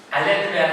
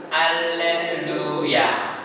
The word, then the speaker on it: 할렐루야: 루할 때 입술이 어때요? 뽀뽀해요. 뽀뽀 뽀뽀 해 봤어요? 네. 잘했어요. 뽀뽀할 때 입술. 자, 루이 발음을 만들어야 됩니다. 할렐루야.